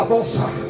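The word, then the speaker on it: δόξα: Por eso en este contexto, cuando hablamos de la gloria de Dios, hablamos de una palabra que se pronuncia dosa.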